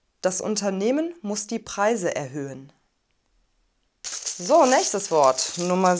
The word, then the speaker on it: erhöhen: haar wird nicht gesprochen wir sagen also nicht erhöhen sondern erhöhen das unternehmen muss die preise erhöhen so letztes wort nummer 7 lehrerin lehrerin näherin